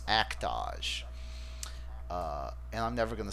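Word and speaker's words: Act-Age: is I talked about act age last podcast it's actually and I love this right it's pronounced to rhyme with the word montage so it's actually pronounced act ah SH and I'm never gonna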